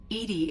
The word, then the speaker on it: EDI: is a jar why are you named Edie Edie is the phonetic pronunciation of e di that is an acronym